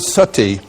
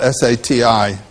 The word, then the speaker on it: sati: You know the word sati in Sanskrit it's spelled s a ti long i.